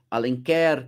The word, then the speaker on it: Alenquer: óbidos, a gente tem alen ou alenquer, como eles chamam lá, né? Alen career, dá até uma na sílaba final dá uma intensidade, né?